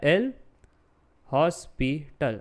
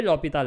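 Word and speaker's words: L'Hôpital: एज पर दी एल हॉस्पिटल लिखने का शब्द कैसा है? एल हॉस्पिटल। बट बोलने के लिए चीज़ें साइलेंट रह जाती है, इसलिए लॉपिताल हम कहते हैं।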